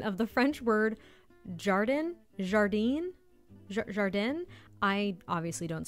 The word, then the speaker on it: jardin: It's also our very butchered pronunciation of the French word jardin, jardine, jardin.